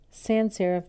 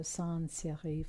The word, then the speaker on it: sans serif: And then sans, it means without. So sans serif or sans serif means without decoration.